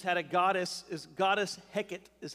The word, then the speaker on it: Heket: And they actually, the Egyptians had a goddess, is goddess Heket, is how you say that.